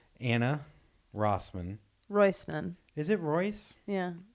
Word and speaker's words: Rois: Is it Royce?